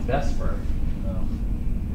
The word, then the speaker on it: VSEPR: three-dimensional shape of this is just done by Vesper people pronounce the best part VSEPR the score stands